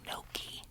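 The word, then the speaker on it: gnocchi: All this time, I've been saying noki. Noki. It's g n o c c h i. And I wasn't sure how to pronounce it until I looked on the back and there's a pronunciation here. It says n apostrophe y a w- ke.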